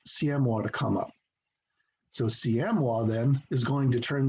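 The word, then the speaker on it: Siamois: I pronounced it a different way for about 5 years until one year, some woman of French background, I guess, said, that looks like a French word. It should be pronounced CMWA.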